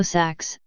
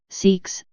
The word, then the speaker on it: Seax: CX Old English pronunciation also Sachs seeks sex invariant in plural latinized